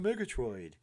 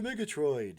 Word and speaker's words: Murgatroyd: to Murgatroid heavens to Murgatroid that's from old hanna-barbera having's to Murgatroyd you got to say it like that I watched a lot of